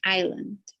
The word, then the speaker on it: island: this word in and we don't pronounce the s so just island island island correct greater